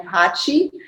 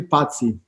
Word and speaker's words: Paci: my surname is actually patsy oh i'm sorry so i didn't see not italian pronunciation but uh albanian i'm sorry he was